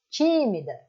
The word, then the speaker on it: tímida: On ne va pas dire timida, comme c'est la tendance des francophones, car vous parlez comme ça en français. On va dire tímida, mais la force lá.